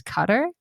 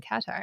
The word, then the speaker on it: Qatar: So, apparently it's cutter. I have been saying Qatar.